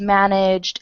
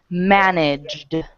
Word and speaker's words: managed: I say it okay managed try that managed okay managed manag there you go managed and yeah work on making a very hard D sound good okay Sasha it's